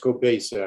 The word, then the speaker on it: Cabasa: Yes, it's pronounced Cabasa actually, but it's a common error.